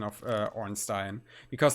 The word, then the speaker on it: Ornstein: do you guys know about that foreign on Stein yeah obviously that that's the one true the one true pronunciation um yeah uh attack speed sounds really